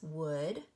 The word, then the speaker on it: would: all of these words would could and should we have oh you saying O and the L is silent so when you come